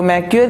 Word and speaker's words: Macquarie: तो मैक्वेयर की रिपोर्ट के अनुसार, वो कंपनी का नाम है मैक्वेयर, यही नाम बोलूँगा, MACQUARIE, यही स्पेलिंग है।